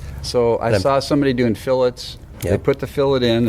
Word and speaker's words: fillets: saw people doing fillets did I pronounce that right yeah fillets I always wanted to say filet but that's right John John i' like